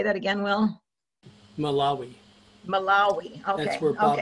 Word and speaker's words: Malawi: I'm not sure how to pronounce that. It is in Africa. Malawi. But, say that again, Will. Malawi.